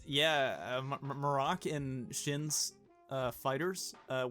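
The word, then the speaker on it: Marrok: episode before that that it was pronounced Merrick this is untrue uh because in this episode uh it is shin I believe um pronounces it as morocc so I am stupid I am a dumb baby Cole deserves all the credit it is Morocco I I I did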